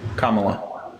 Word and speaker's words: Kamala: feel she's not real can you say it right wait how do you say it Kamala Kamala y all right there I